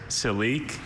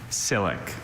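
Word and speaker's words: silique: There's celic and silic.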